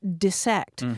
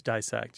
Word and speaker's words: dissect: was saying look it's it's got two s's in it it's pronounced dissect but that one has definitely flipped right so it's dissect you dissect a frog